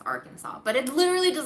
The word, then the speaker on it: Arkansas: how you properly pronounce Arkansas. But it literally does not make sense, okay? It should be pronounced Arkansas, because we have a state called Kansas, and it's pronounced Kansas.